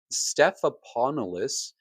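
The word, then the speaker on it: Stephanopoulos: In an ABC News interview with George um Stephaponis, however you say that. I am so sorry. I cannot pronounce that for the life of me. Someone said it's pronounced like Metropolis, but hey.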